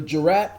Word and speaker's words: jurat: Jurat. Okay, got it. Sounding like jury. Jurat.